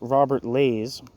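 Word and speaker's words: Robert Ley: There's a typo in the book or a misspelling of the name. It's Robert Lays. It's Robert Lay, not Robert. Might be even Lie.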